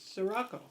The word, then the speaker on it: Scirocco: Scirocco, there's no H in it. It's Sirocco.